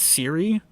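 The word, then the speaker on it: Cyre: refugees interesting point um keith baker the guy who makes the session pronounces seer as siri personally so so you could follow that to how his refugee name might sound he must be an android user then because anyone with an apple phone would hate that honestly that was the sole reason that i decided i don't want to pronounce it siri i want to pronounce it seer was mostly because i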